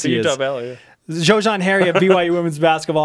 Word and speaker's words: Xojian: Xojian. Okay. Oh, Xojian. With a Z. With the Z. The Z sound.